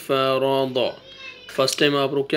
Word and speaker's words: فرض: ہے ضاد فتحہ ضا۔ اب ان 3 لیٹرز کو آپ ایک ساتھ بولیں، ف را ضا۔ فرسٹ ٹائم آپ رک